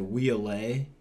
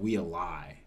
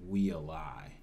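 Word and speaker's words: Waialae: We said Wheelay. In Hawaii last year, or last week was the tournament. Mm-hmm. I heard the broadcast that said "We a lie" is what it was, I believe.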